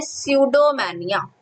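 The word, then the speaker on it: pseudomania: उसे हम कहते हैं स्यूडोमैनिया। स्यूडो, यहाँ पर पी साइलेंट होता है, सब पी स्यूडो नहीं बोलोगे, इट इज स्यूडोमैनिया।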